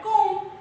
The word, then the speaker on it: comb: So here letter D is actually a silent word, a silent letter, right? It is actually simply called comb, C-O-M, comb.